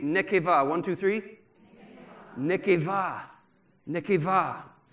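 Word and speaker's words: נקבה: genesis chapter one is nekeva and here's how it's spelled n e q e b a h but the b is pronounced v nekeva ladies say nekeva one two three nekeva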